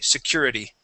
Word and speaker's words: security: the word security okay changing that t to a d whenever you have a t and an e sound at the end we definitely change that t to a D in American English Okay security security good